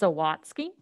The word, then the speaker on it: Sawatsky: Okay, it's pronounced Sawatsky, but you can call me Dr. You can call me Dr. S. Or Dr. Yeah, Dr. Theater. But yeah, it's Sawatsky. It's a Prussian last name.